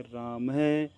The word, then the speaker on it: रामः: ये विसर्ग कहलाता है इस विसर्ग का उच्चारण ह की तरह होता है रामः और यह है ना